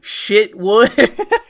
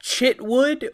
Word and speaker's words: Chitwood: mean, Sheriff Michael, but C-H can be pronounced like, Chicago, so that would be like Shitwood, or it could be pronounced like Chip. Like you're eating some chips, and that would be Chitwood.